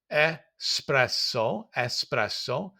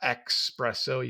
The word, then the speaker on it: espresso: It is espresso, not espresso.